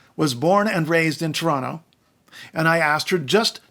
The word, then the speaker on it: Toronto: say Toronto they say if you say the second t-that's wrong you're wrong you're not from here you're wrong you're wrong you're wrong well guess what they're wrong my life was